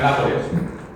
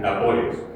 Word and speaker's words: Nápoles: Entonces, si tenemos la palabra Nápoles, sabemos que es esdrújula. Y como esdrújula, la palabra tiene tres sílabas.